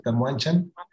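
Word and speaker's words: Tamoanchan: Inclusive es Tamuanchan, como se pronuncia, Tamuanchan.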